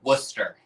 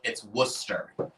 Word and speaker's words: Worcester: Worcester. It's not Worcester or Worcester. It's Worcester.